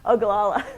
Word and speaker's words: Ogallala: Somebody had asked a very wise question, and I can never pronounce the name of this aquifer, so I may ask you to do it. Ogallala, thank you.